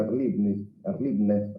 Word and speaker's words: Erlebnis: palabra ni a la raíz alemana, Erlebnis, se pronuncia Erlebnis aparentemente, significa vivencia o experiencia vivida, ni tampoco como Erfahrung, es la experiencia acumulada.